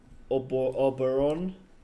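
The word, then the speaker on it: Oberon: Then we got Titania, which is Uranus's largest moon backed up with Oruron. That's how you pronounce it.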